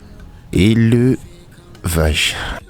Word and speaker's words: élevage: Ce E se prononce... Ça se prononce avec un accent.